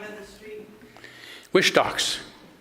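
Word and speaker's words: Whistalks: Wishtocks. Wishtocks. Yeah. Yeah. What do I say? W It's It's It's W H I S T A L K S. You want to say wish, but it's Wishtocks.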